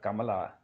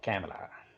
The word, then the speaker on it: Kamala: do not know how these Americans do not know how to pronounce Kamala just like our first lady they twisting her name any old way possible um they used to call Camala she was not a